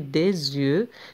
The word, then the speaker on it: des yeux: Normalement كتكتب des yeux ولكن مع la liaison on dit des yeux حيت le D ça se termine par S وعندنا Y donc نقولوا des yeux.